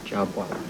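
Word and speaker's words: Jhabvala: Ruth Jabwala.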